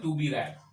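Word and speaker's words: read: रीड को हालांकि spelling same रहती है लेकिन प्रोनाउंसिएशन बदलकर रैड बोलते हैं, टू बी रैड।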